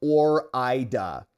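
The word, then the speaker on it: Ore-Ida: Hey, West Downer, it's pronounced Or-ida.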